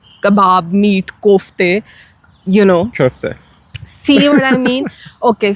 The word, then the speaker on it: köfte: But in Turkish, you spell it K-O with the dot, Yes. right? That's on the top. And that sound of O with the dots is very different from the English O.